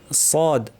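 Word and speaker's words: صاد: একটা কথা বলব যে আমরা অনেক সময় সদ উচ্চারণ সময় ঠোটটাকে গোল করে সোয়াদ বলি। সোয়াদ এটা আমার দেশে শিখানো হয় অনেক সময়। এটা কিন্তু ঠিক না।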